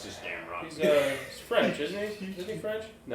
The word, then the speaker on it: Gamrot: But it's just Gamrot.